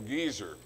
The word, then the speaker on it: Gezer: Brown, I learned how to pronounce the word Gezer, you know, the two segals, short E's.